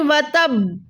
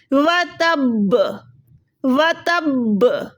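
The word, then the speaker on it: وَتَبَّ: अब यहाँ पर पहले आप बा को ता से मिलाएं, व तब, फिर बा पे खुद जज़म दें, व तब, ठीक है, तब आपकी जाके प्रोनाउंसिएशन करेक्ट होगी।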